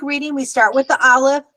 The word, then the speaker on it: aleph: we start with the aleph. What sound does aleph make? Does aleph make an ah? No, No. it's silent. Exactly. Aleph is silent.